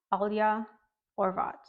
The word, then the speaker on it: Alja Horvat: how to pronounce it it's Alia or vat it almost sounds like a Spanish pronunciation so like my Spanish